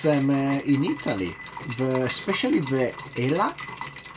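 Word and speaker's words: Elah: We call it Elac in Italy. I don't know why the K at the end instead of the H.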